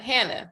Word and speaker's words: Hannaha: Well, Hannah. Yeah, it's pronounced Hannah.